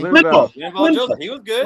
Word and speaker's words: Linval: Lovan Joseph. Well, how you pronounce his name? Linval.